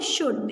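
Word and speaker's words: should: क्या हो सकता है, शुड. इसमें भी देखिए एल साइलेंट है तो यहाँ पर हम एल लिखेंगे.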